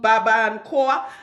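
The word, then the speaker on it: Barbancourt: It's called Baba and Koa. I know it must be, the T is silent because it's French.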